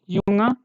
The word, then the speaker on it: Junge: Whatever I am telling, these three words, Junge. See how it is read, Junge.